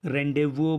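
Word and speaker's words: rendezvous: बाकी इसके प्रोनाउंसिएशन अलग अलग तरीके से किए जाते हैं, जैसे ये फ्रेंच वर्ड है तो इसको रेंडेवो भी बोला जाता है।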